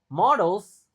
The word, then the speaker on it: models: In the future this innovations will be considered models. Nah, ini ini juga banyak orang Indonesia kesusahan baca karena tentu kita bacanya model dalam bahasa Indonesia kan. Dalam bahasa Inggris models. E-nya dibaca e.